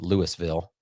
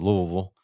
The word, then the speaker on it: Louisville: If you're from Louisville, sorry, because I'm probably saying it wrong, but I don't think it's Louisville or Louisville. I think it's just Louisville.